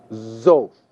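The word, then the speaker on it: זֹאת: The feminine singular form for this is pronounced zoth. Note that the aleph quiesces in pronunciation.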